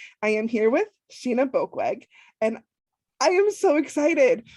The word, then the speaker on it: Boekweg: So I am Sheena Boekweg. In case you're wondering how you say Boekweg, it rhymes with broke leg.